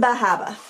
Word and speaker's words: Bar Harbor: you probably know that I was in bahaba that's how that's how the locals say it I was in Bar Harbor and which is a